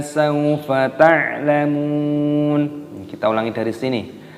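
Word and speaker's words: سَوْفَ: Nah, kalla panjangkan, saufa, wawu sukun dibaca saufa, ta'lamun, ainnya dibaca sukun, dibaca mati, lamun, memnya dibaca panjang, ada wawu sukunnya dimatikan, nunnya dibaca mati, mat ada sukun.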